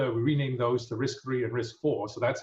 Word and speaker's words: RISC-V: And so it's RISC-V, pronounced RISC-V, and this is really the 5th Berkeley ISA.